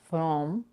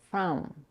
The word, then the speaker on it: from: the pronoun her with from is pronounced with a cup sound a and not with o it's not from but from however the vowel can